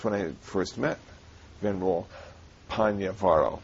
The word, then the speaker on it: Pannyavaro: And that's when I first met Venerable Pannyavaro. Now, I'm working hard on pronouncing his name correctly, but you call yourself... Panya's quite okay, too. Panya's okay, too.